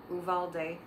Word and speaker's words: Uvalde: funerals happening in um uvalde texas i don't know why it's so hard for me to say that rhymes with vivaldi anyway um i uh